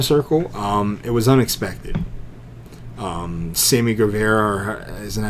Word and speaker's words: Guevara: Sammy Guevara, isn't that how you say his name? Yeah, Sammy Guevara.